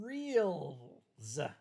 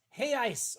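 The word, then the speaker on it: reais: it's r-e-a-l 50 Brazilian Reals apparently not it's pronounced hey ice or something stupid like that 50 in Hayes per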